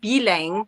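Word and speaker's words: bilingue: The word bilingual in French is bilang, so it just rhymes with bledang. So the word for bilingual rhymes with the word corn on the cob.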